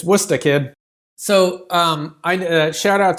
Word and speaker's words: Worcester: s t e r which you would think would be like Worchester but no it's it's it's it's it's wora kid so um I shout